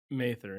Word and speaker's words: Mather: hate to say this is it Mather or Ma how do you say it mayther yeah it's Mather okay I'm saying Mather too